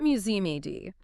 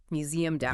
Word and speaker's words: museumed out: You don't pronounce a hard E and a hard D. It's not museum-ed. The D sound links directly to the word out. Museumed out.